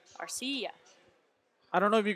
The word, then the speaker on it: Arcia: saying Arcia Orlando Arcia it's icy yeah the accent is on the I are CEO I don't know if